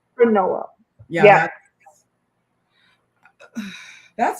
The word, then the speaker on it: JKMN: The pronunciation was Noel because it had no L.